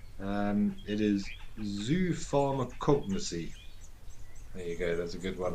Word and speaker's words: zoopharmacognosy: And a 6-syllable word at that.